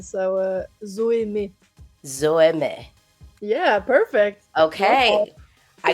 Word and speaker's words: Zoë: Zoey. Am I saying that correctly? Or is it with an exonteu or something? Do I need to French pronunciation? So, uh, Zoe.